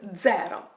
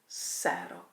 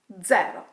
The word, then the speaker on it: zero: Pay attention to the pronunciation. This number is called 0. Not 0. 0.